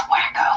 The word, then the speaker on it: Waco: Number 2, Waco, Texas. It's pronounced wacko.